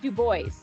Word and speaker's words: Dubois: away from yellowstone uh another dubois the locals say it this way do boys you boys oh thank